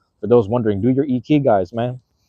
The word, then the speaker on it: ikigai: You know, I did my ikigai. For those wondering, do your ikigais, man. Ikigai. That's the right way to say it in Japanese, I believe. Ikigai. Ikigai. I don't know if I'm saying that correctly, but I did that anyway.